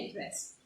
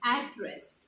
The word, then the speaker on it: address: between the two words the mailing address is uh is known as address you pronounce it you pronounce it as address whereas if you're addressing someone it is address okay the pronunciation the spelling is still same however one being a noun and one being a verb the pronunciation of the same word differs so one is address